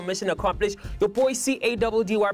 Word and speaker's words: Caddy: Your boy C-A-D-D-Y pronounced Caddy, and we're out of here.